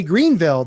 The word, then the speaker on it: Greenville: down there in Greenville Greenville I'm saying it wrong but when I say Greenville they say nope no how we say there it's Greenville you don't see it right